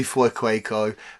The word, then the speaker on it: Fuecoco: 6 is my lovely Fuecoco.